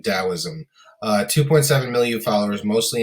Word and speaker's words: Taoism: these three first being taoism uh you will see that spelled with the letter d also um same thing taoism uh 2.7 million followers